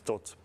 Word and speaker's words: Thoth: can talk about them so the pronunciation and please check or slovak is tot and we will talk